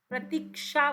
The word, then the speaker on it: प्रतीक्षा: रहा है कहीं प्रतीक प्रतीक्षा बोलते हो आप प्रतीक्षा प्रति छा नहीं बोलते प्रती छा नहीं बोलते प्रतीक ा तो इसमें क साइलेंट होता है प्रतीक्षा कक्षा इसमें